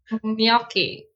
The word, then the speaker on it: gnocchi: I don't know how many we'll have after you tell them that their pronunciation is wrong. Gnocchi.